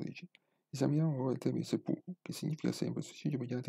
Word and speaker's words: seppuku: Setsu fuku diventa seppuku per ragioni eufoniche.